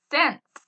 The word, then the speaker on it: cents: Cents. C-E-N-T-S. Cents. The C at the beginning makes an S sound, but it's a C.